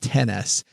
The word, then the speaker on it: iPhone XS: Uh I think they want that pronounced 10S and still have an affordable phone bill.